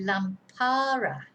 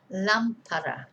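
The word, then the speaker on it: lámpara: on the first a if we didn't have an accent in this word it would be lampara because the stress would be on the second day the second day from the end second syllable from the end the penultimate syllable lampara not lampara okay did you get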